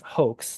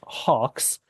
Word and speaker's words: hoax: It should be read out as hoax, not hawks.